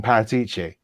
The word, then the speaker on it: Paratici: that we know better than paratichi oh as it's supposed to be pronounced okay we don't he's